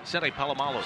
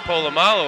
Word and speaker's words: Polamalu: man in there was seen apollo cena palomolo better pronouncing polamalu or al said he's